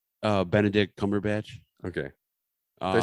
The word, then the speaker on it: Benedict Cumberbatch: wait how do you say his name uh benedict cumberbatch okay they said bend the dick bend the